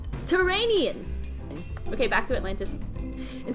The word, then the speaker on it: Tyrrhenian: Tarhania?